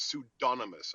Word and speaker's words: pseudonymous: attack like independent but learn the word is pseudonymous okay that's how it's pronounced now we have been lectured now for